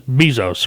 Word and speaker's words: Bezos: you know i i never know if i'm pronouncing his name right business bezos right that's what it is amazon ceo he's